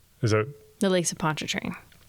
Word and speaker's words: Pontchartrain: And it rhymes with choo-choo train. Is that... The Lakes of Pontchartrain.